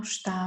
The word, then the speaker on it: está: Está frio. And nothing is worse than cold soup. Or you don't like the flavor, something is wrong. You can say, não está bom.